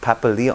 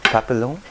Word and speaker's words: papillon: languages keith but uh wouldn't it be pronounced like papa leo no papillon papillon yeah adam sandler starred in